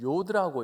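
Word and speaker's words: י: 첫 번째 알파벳, 저것은 요드라고 읽습니다. 그래서 하나님의 이름을 읽을 때는 야훼라고 읽는 것이 아니고 요드해 바우해라고 그렇게 읽습니다.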